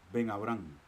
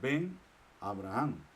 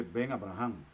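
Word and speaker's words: בן־אברהם: Que esto se pronuncia pegado, Ben Abraham. No se dice Ben Abraham, sino que dice Ben Abraham. El Makef lo que hace es mostrarnos que esta palabra y esta palabra se pronuncian juntas.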